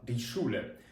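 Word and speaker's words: Schule: до прикладу шуле школа шуле ми знову ж таки читаємо як ш шуле Окей А ще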